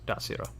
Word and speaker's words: Desiro: And Zakar, you also know that it is pronounced Dasiro.